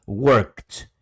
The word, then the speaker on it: works: garganta work no vibra Entonces si no vibra sería works works Ok también like no